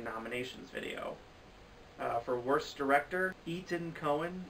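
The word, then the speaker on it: Etan Cohen: For Worst Director, Ethan Coen, and I say that because it's spelled E-T-A-N, so it's not like I'm saying Ethan Coen, and so this is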